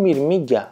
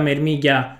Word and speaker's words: μυρμήγκια: Ehmm, I don't know, I pronounce it as mermigia (Euripides interventing: tell "mirmigia" once) Mirmigia, mirmigia, MIRMIGIA Oh, those ANTS!